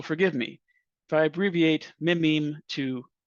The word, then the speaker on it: meme: the French word me it should be pronounced to rhyme with cream I just want to